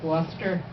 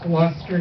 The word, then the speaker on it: Gloucester: all the way from Gloucester County. During the gubernatorial election, I learned how to pronounce it. It's Gloucester, not Gloucester.